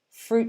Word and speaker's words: fruit: trees with a t often when we when we're speaking quickly we kind of drop the t sound at the end of fruit so if i'm speaking quickly i would say fruit smoothies are a popular